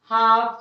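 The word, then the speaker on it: half: जबकि एल यहाँ पर है लेकिन हम उसका उच्चारण नहीं कर रहे हैं. हाफ, चॉक, कॉफ, आलमंड, बाम, फॉक, बक, सब में एल को हम साइलेंट रखेंगे.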